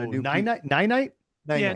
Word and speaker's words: Ninite: night, nine night. Yeah, Ninite. That's nine. it. Nine Nine. And that's spelled Ninite.